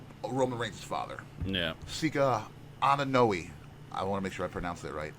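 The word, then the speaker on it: Anoaʻi: up anahi an aahi is correct it is anahi BT check out the big brain on BT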